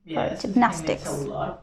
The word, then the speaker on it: gymnastics: again gymnastics gymnastics okay how many syllables three syllables okay six gymnastics okay now where's the stress the second cell the second syllable gypnostics right okay